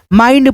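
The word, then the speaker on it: mind: जैसे एम आई एन डी माइंड पढ़ेंगे।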